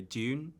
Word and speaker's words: Dune: with everybody for for going for the receive pronunciation no J and none of this double O business yeah I said to